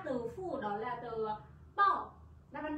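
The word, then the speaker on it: 报: Ở đây chúng ta có một từ trông nó cũng na ná, từ phủ đó là từ bò. Đáp án D, từ này chúng ta đọc là bò nhá.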